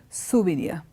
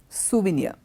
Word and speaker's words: souvenir: it's called a souvenir look at the spelling and see how I'm pronouncing the word it is souvenir souvenir and a souvenir would